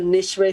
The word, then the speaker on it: Nicewicz: It's called the Nishwe Family Farm. It's spelled NICEWICZ.